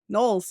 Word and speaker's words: Knowles: And today we've got with us Knowles? Knowles, yes, you got it right. Okay. Yes. I figured that's how you pronounce it, but I just like question mark because I'm wrong bird.